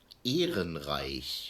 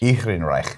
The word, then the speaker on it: Ehrenreich: The correct pronunciation of the name is Ehrenreich. Ehrenreich.